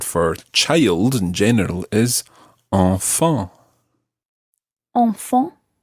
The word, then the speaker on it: enfants: And the plural of this, the word for children, sounds exactly the same, although it's got a silent S on the end. So you would say enfant. Enfant.